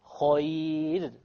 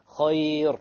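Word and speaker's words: خير: Khayr. No. Khayr. Light, because there is a ya before it.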